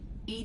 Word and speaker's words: EDI: have a specific inquiry why are you named Ed Ed is the phonetic pronunciation of Eed that is an acronym for